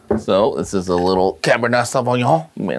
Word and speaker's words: Cabernet Sauvignon: So this is a little Cabernet Sauvignon. You may not be in a wine aficionado like me, but that's how you pronounce it. Once again, Cabernet Sauvignon.